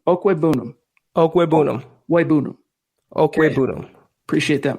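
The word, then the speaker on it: Okwuegbunam: Albert's name is pronounced Okwebunam. Okwebunam.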